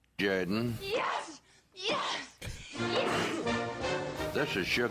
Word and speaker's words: Jordan: the Auburn Tigers say no no no it's pronounced Jordan yes yes this is sh jayen football coach